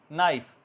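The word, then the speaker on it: knife: नी ठीक है next नाइफ चाकू या छुरी हमारी किचन की टेंसस में यूज होती है तो इसमें के साइलेंट बाकी नाइफ बोला जा रहा है एन आईएफ नाइफ इस तरह निट बुनना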